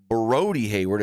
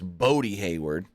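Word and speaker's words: Bodhi Hayward: Brody the Brody Hayward I said his name wrong earlier today I said broy Hayward it's bod Hayward you know he calls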